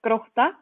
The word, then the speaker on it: Grótta: and their club, and they're going to correctly pronounce the name for me. Go, Thora. So it is the football club Grótta.